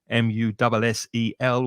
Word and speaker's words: mussel: And it's exactly the same pronunciation as the shellfish that you eat, mussel, which in Spanish, if you're a Spanish speaker, is mejillon.